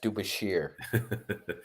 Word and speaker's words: DeBusschere: That name is French, and in Canada it would be pronounced Dubashir.